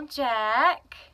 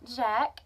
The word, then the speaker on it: Jacques: tail is so that's Jack and Gus or Jacques and spelt Jacques but I think it spells jock but I think it's pronounced jack I think that's how